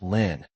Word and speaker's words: Lin: This character is pronounced Lynn.